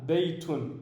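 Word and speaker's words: بَيْتٌ: Ici on a le ba avec une fatha. On a un ya qui a une soukoun, donc on ne prononce pas, ou alors il n'y a pas de voyelle qui est attribuée sur le ya. Baytun.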